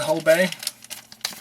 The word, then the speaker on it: Hobé: And yes, I am pronouncing it Hobé. I think I'm the one pronouncing it correctly. I heard a lot of folks pronouncing it Hobé. I don't think you're wrong either, so depending on what it is.